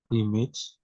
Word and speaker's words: damage: Damage. One more time, Mr. Agung. Damage. Damage, damage. So we stress the mage part, damage. Again, use the schwa sound for the first part.